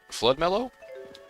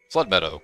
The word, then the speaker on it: Flood Meadow: pronounce this, the Zagat Flood Mellow? That was Flood Mellow, right? Flood Meadow, not Mellow.